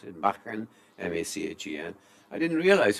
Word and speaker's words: Machen: Going back to your cricket club, and Derbyshire listeners might like to hear me pronounce it, Machen, M-A-C-H-E-N.